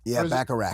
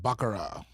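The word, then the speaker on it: baccarat: B a c a r a t. Did you know how to spell that? Yeah. Jesus. You say it. Bakarat. His real name is Bakarak. So it ends with a t.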